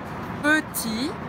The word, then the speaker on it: petit: Petit, beleza? Peu, biquinho francês, lembra? Faz a boca do O e fala E, peu, petit, não pronuncia o T final, tá?